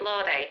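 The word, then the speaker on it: Laude: You can also pronounce it Lord if that's how you prefer.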